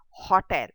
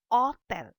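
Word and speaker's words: hôtel: It is not hotel. It is hotel. Oh. So that OH is pronounced in the place of O, but you keep the H silent.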